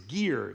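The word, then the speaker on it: giyr: The word for plaster in Aramaic is gear. It's spelled gi y r in English.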